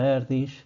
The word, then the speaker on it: Erdős: De hecho, Paul Erdős, que parece que se pronuncia Erdős, que era un matemático húngaro del siglo XX,